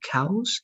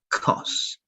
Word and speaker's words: cause: not good all right remember it's with c-a-u but you don't say cows it's going to be kos right so it was good